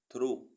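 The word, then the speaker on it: thorough: Jang T एच आर ओ यू जीी एच थ्रो थ्रो मीस बीच से टी एच आर ओ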